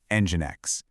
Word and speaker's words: nginx: So, it's not Engine X, it's simply Engine X.